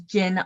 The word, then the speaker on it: Jin: And again, my name is Jin, pronounced like the alcohol, but I'm the non-alcoholic Jin.